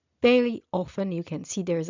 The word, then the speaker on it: ve: So very often we add the letter e and the preposition is pronounced ve.